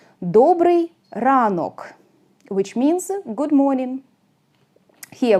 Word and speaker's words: добрий ранок: this O is not under stress, it is pronounced like A. Доброе утро. In Ukrainian, доброе утро will be добрий ранок.